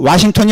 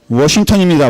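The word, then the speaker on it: Washington: 그래서 여러분 앞으로 와싱턴이 아니라 워싱턴입니다. 워싱턴. 혀를 좀 꼬부려야 됩니다.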